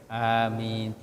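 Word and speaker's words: آمين: baca itu jadi apa Huruf a-nya itu hamzahnya dibaca dua ketukan atau dua harakat kemudian minnya itu lebih panjang Bisa dua bisa empat bisa enam karena itu Mad di sukun Mad panjang yaam mati di ujung hurufnya karena kita wakaf berhenti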